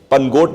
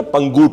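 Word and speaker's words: पंगोट: पनगोट नहीं होता, पंगूट होता है। मुझे 2-3 लोगों ने टोका वहां पर कि आप गलत बोल रहे हो, हाँ, जबकि स्पेलिंग से हमें लगता है।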